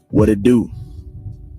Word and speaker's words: what it do: The pronunciation would be what it do. Remember, sometimes in the American accent, the T itself is flapped around into a D.